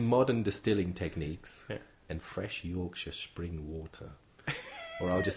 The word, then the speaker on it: Yorkshire: and they call it Yorkshire tea. Why is it special? Can I just say, Travis, that you are pronouncing Yorkshire well? Because Americans usually go for the Shire.